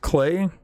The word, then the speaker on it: Klei: it's made by uh I believe it's pronounced clay it's klei they're the same people